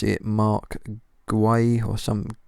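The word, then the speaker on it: Guéhi: My guy, I don't know how to pronounce it, Mark Guay or some, it's not Gahey, obviously Mark Guay, who I signed for Newcastle from Palace.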